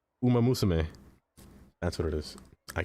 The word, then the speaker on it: Umamusume: Umamusume.